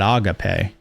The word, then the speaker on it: agape: cannot be in harmony with agape, or some people pronounce it agape, but you cannot be